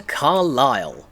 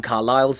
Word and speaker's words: Carlisle: Welcome to Carlisle, a historic English city located... What did I say? So the S is silent.